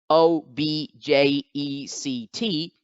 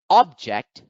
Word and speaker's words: object: for example the word o b j e c t when accented on the first syllable object is a noun when accented on the